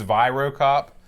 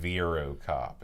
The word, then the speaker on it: Virocop: I will cede that I pronounce this game incorrectly but I enjoy pronouncing any I'm sure it's vyro cop I just like to say it Veeru cop it's sort of continental